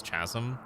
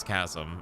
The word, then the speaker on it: chasm: Like, apparently I say chasm incorrectly, because I used to say it as chasm. And apparently it's chasm, and there's a bunch